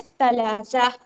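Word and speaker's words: ثلاثة: क्योंकि सा का जो मखरज है वो थोड़ा सा हमें लाइट सुनाई देता है। है ना? इसलिए उसको हम पढ़ेंगे सलासा।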